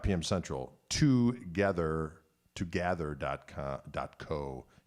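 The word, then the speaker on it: tgthr: so that's on saturday night 5 pm central together together dot com dot co t g t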